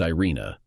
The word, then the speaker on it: Irene: the Danish officer Captain Irene pronounced Irina from Copenhagen embodied what